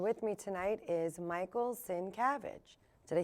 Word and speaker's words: Sincavage: this evening and with me tonight is Michael sin cabbage did I say it right totally oh good